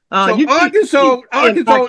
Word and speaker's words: Arkansas: So Arkansas is the right pronunciation, as far as I'm concerned.